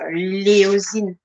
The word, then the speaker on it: éosine: C'est l'éosine. L'éosine, ça s'écrit E-O, non, E accent O-S-I-N-E.